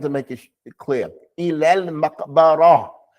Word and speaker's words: مقبرة: Ilal maqbara. It's a ra, and there's a ta marbuta at the end. That's going to be pronounced like what? As a ha.